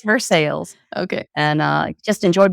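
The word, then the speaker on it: Versailles: and we were in verses Kentucky first time I said it I mispronounced it but vers I would have I did I did but in Kentucky it's for sales okay and uh just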